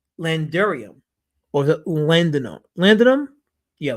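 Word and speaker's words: laudanum: all timey drugs like larium or is it landum landum yeah landum okay laam there you go I said it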